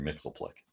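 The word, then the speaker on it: Mxyzptlk: the shop and whatever it's how we pronounced it uh for me it was always mr mixel plick um mixy's uh using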